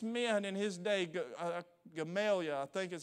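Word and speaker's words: Gamaliel: of the smartest men in his day uh gamalia I think is how you pronounced his name he was a Pharisee of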